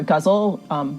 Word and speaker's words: ghazal: week was to write a ghazal or guzzle, maybe pronounced huzzle, which is a form